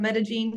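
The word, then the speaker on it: Medellín: and this is Josh I am from Medellin Colombia that's how you pronounce it thank you and yeah so like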